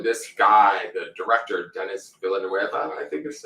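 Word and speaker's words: Villeneuve: stuff and so this guy the director dennis villanueva that's how it's pronounced he's directs sort of similar to how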